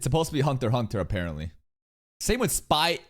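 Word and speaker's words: Hunter × Hunter: By the way, you never pronounce the X. It's supposed to be Hunter x Hunter, apparently.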